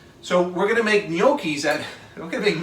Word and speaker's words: gnocchi: they serve something called gnocchi. I love gnocchi. Which people really have a wonderful time pronouncing, by the way, because it's spelled with a G. So everybody goes gnocca, gnocchia, gnocchi.